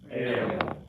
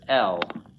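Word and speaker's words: אל: Repeat after me, ale. Ale. Okay. Ale means God or God, capital G or lowercase g, which means that it can be God, capital G, the God of Israel, the one God, the true God. Little g any god of other nations. And we often, it can also appear as El, which you might have heard before.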